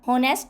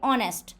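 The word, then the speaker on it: honest: Guys इसमें जो एच है वो साइलेंट है। सो ऑनेस्ट नहीं बोलेंगे। ऑनेस्ट ही इज ऑनेस्ट।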